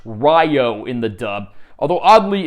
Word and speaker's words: Ryo: and Sage Rio retained his name but it's pronounced Ryo in the dub although oddly in the dub of the ovas they go back to saying Rio but everyone else retains their English dub names